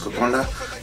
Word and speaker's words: Kokoda: making uh kokonda it's spelled kokoda but it's pronounced kokonda yeah so this is my first time making